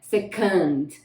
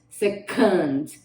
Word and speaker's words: second: Agora, um outro significado dessa palavra aqui, mas mudando a pronúncia, então a gente pronuncia, para esse significado que eu vou falar agora, é second, second, tá?